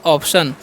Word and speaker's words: option: ठीक है, तो लिखा है OPTION, तो इसे हम क्या पढ़ते हैं, ओ का उच्चारण ओ करना है, तो ओ हो गया। पी का प, और TIO का क्या करना है, स करना है, तो स हो गया। आंसर ना, तो हो गया ऑप्शन।